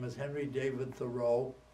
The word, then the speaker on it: Thoreau: some time ago his name is Henry David Thoreau pronounced Thoreau and I just found out I start like